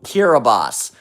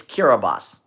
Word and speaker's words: Kiribati: I'm talking about places like the Marshall Islands, Tuvalu, Kiribati, Nauru.